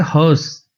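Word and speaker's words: hearse: हर्स, हर्स, इसकी pronunciation होती है हर्स, हर्स, जो कॉफिन को,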